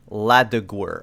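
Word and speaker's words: Laduguer: it's not needed l-a-d-u-g-u-g-u-e-r later oh it's pronounced later it is also the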